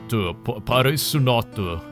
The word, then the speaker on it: Policenauts: Policenauts.